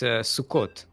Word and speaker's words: Sukkot: It's Sukkot. It's Yeah, I would pronounce it as something else.